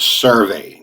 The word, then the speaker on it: SurvAI: today i'm looking at a new software called survey now it's spelled serve s-u-r-v-a-i and the ai of course